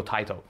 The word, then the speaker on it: Taito: but again ta Tio I say tao because uh people say why do you say it like that uh my arcade games like the ATT track mode on a couple of games uh it goes TI to so that's why I go TI to uh but you can